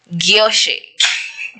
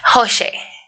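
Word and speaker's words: José: Hoshe. It's Hoshe. It's Hoshe. I was told in some countries, J is pronounced as H.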